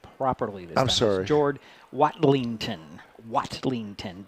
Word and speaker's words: Watlington: yeah number 21 who's let me let me pronounce his name properly this Jord watlington watlington w a t l i n g